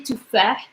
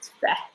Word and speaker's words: تفاح: Okay, if it's hard for you, some people say tufah, tufah. You can add vowel if you wanted to, like this. It makes sense. But normally I say it like this, tufah.